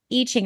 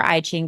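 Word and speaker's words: I Ching: Um but I will say so human design is a combination of astrology, cabala, chakra system, e-ching or iing depending on how you pronounce it.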